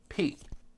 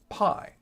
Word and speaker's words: pi: you take the Greek letter pi they actually pronounce it P so that's just something that we have to